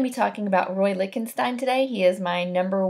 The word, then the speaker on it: Lichtenstein: So pronounced Lichtenstein.